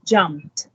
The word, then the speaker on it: jumped: Not, please pronounce it as jumped. The t sound at the back.